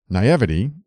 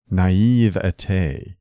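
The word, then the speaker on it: naivety: just one more thing navity is pronounced naive not navity regards all right thank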